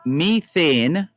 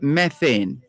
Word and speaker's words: methane: pronunciations for that word there are two you either say methane or methane methane or methane you can always double check that that's straight from the oxford after all who bet